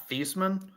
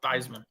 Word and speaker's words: Theismann: It was actually it's actually pronounced Theismann, but because he was in the Heisman running, he's like, yeah, pronounce it Theismann.